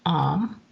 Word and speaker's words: Om: the heart chakra is om pronounced um and during meditation it's drawn out like this or again you can